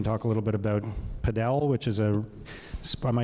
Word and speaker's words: padel: We can talk a little bit about padel, which is am I saying it right? Padel?